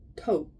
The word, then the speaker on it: Thoth: As was said earlier during the exodus from Atlantis, many of us followed Thoth, pronounced Thoth, T-O-H-T-H, to the land of Kim, now called Egypt.